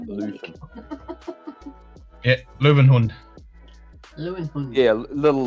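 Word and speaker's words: Löwchen: it's anglicized to be Lochin, which is not. Oh, he's a Lochin. It's not. Yeah, that's the anglicized pronunciation, but the German pronunciation would be more like Leuven.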